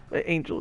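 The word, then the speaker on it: Ángel: Angel is spelled, okay. yeah. I'm just pronouncing it the Spanish way because she's Mexican.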